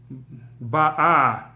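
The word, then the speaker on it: באה: In this particular case, like I said, the fact that the tam is on the first syllable, as Rashi explains, means that she already came. Before that she was coming, ba'a, and now she came already, ba.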